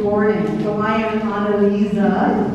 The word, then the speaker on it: AnneLise: So I am AnneLise, is the pronunciation.